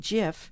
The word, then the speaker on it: GIF: The primary formats for still images for the web are JPEG, GIF, or as some people pronounce it, GIF, and PNG.